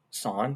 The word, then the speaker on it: sin: sine cosine and tangent these are abbreviated as sine pronounced sine it's spelled s-i-n cos and tan sine